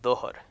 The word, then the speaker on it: Dhuhr: the day, is called Dhuhr. And you'll see it typically spelled with a DH. And that's basically to kind of give you the hint of how to pronounce it.